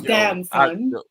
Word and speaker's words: Damson Idris: I didn't even know how to pronounce his name. It's Damson.